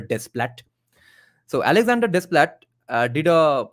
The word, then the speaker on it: Desplat: actually Alexander desplat and different people pronounce it in different ways some say it's Alex desplat some say it's Alexander Splat I I pronounce it just the usual way that the spelling seems to tell me it's Alexander desplat so Alexander desplat did